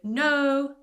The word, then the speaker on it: know: The same with know, knowledge, I don't say know, knowledge. The K is silent.